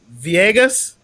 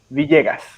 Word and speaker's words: Villegas: Viegas. Yeah, that's the right pronunciation in English, I guess. Okay, yeah. That's right. That's right-ish. So say it right for me one time, bro. Yeah, in Spanish would be Villegas.